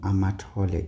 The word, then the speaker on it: Amato: Okay, please folks stop this thing of saying Amato when you're speaking in English doesn't change the name because you're speaking in English. It's amato. So the stress and inonation there on the syllables is down. Okay? It's not going up. So don't change it.